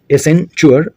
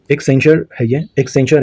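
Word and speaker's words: Accenture: In March 2024 which company has acquired educational platform उडासिटी एसेंचुअर, so correct answer is option C, correct answer हो जाएगा एक्सेंचर है ये, एक्सेंचर है इसका सही प्रोनाउंसिएशन।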